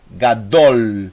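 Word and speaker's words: גדול: Eu tenho o Gimel, som de G, mais A. Essa é a primeira sílaba. E a segunda sílaba, são duas sílabas apenas. É o Dalet, mais o Rolevav, mais o L, o Lamed. Então eu tenho Gadol.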